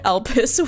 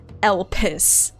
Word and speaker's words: Elpis: But the way that it's spelled makes me think it's Elpis. You can really tell how putting emphasis on different parts of a word can really change what it sounds like. Elpis versus Elpis.